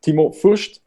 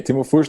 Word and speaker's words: Timo Fürtsch: It's Timo Fürtsch. Do I pronounce it right? Perfect. Okay, Timo Fürtsch, Head of Business Innovation at Mackevision Media and Design.